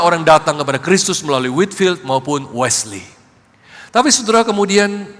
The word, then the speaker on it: Whitefield: Saudara, sejarah mengenal John Wesley dan sahabat baiknya George Whitfield. Kalau di Inggris bacanya Whitefield.